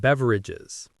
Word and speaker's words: beverage: It will often have a section called beverages. The pronunciation is beverage. Beverage. It looks like it has 4 syllables, but we usually say it with 3. Beverage. Stress on the first syllable.